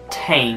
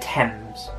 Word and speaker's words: Thames: hang on hang on it's not really the river tame it's river thames i just realized i